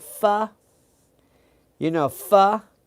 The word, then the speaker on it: pho: If you like fu, you know fu, it's spelled ph, but it's spelled fu, which the way I remember spelling fu is ph.